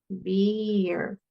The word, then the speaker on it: bear: Entonces, be, bear, ¿verdad? Es como que siempre que tenemos una vocal antes de una eh consonante que vibra, por ejemplo, la r vibra, ¿cierto?